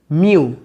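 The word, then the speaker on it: μ: म्यू यानी कि म्यू of second medium, इसको हम लोग म्यू प्रोनाउंस करते हैं। क्या कहते हैं? म्यू। यू नहीं है, ये म्यू है।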